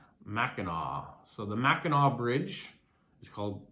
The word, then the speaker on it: Mackinac: Big Mac, pronounced Mackinac. So the Mackinac Bridge is pronounced Mackinac, and that's called Big Mac.